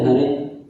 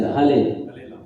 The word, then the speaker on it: Hare: because there is no, in Chinese language, there is no word known as R, Ra. Ra is not there. So how they will say Hare? La, yeah, La they will say, Hale.